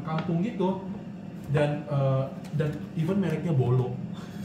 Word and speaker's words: bolo: ngerti gak sih, kayak bolu panggang. Ya udah bolu panggang aja gitu, nggak yang fancy, yang kayak bolu panggang kampung gitu. Dan even mereknya Bolo, which is like somehow it's pronounced like bolu, right?